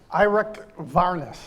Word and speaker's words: Eirik Wærness: We're really delighted today to have, and I'm going to try this in the Norwegian pronunciation, Eirik Wærness.